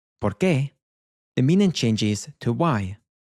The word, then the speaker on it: por qué: So we have because, which is porque, but when we split up this word and stress the ending, so it becomes ¿por qué?, the meaning changes to why.